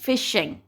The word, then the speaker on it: phishing: फिशिंग के ये जो आपको स्पेलिंग यहाँ पे हैं, PHISHING, इसका प्रोनाउंस कैसे करते हैं? फिशिंग।